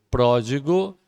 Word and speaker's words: Pródigo: Pródigo. Pródigo, acento agudo no pró, a antepenúltima sílaba, porque é uma proparoxítona.